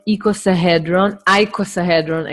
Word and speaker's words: icosahedron: called equals ahead run icosahedron actually in English you pronounce it like that icosahedron and this shape is